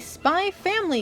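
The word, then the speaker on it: Spy × Family: November 14th and a spy Family Game Spy Anya operation memories coming out next year yes the x is silent you're supposed to know that I've heard this series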